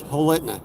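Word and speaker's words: Holitna: I'll spell it out. It's Helitna.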